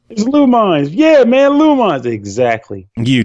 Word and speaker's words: Lumines: I was like, you guys, it's Lumines.